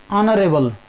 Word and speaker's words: honorable: Similarly in honorable, H-O-N-O-U-R-A-B-L-E, honorable.